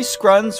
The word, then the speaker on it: Scrun: Well, you know what they say, Larry Scrun's rhymes with runs, and if it runs, don't knock it, no matter what it looks like.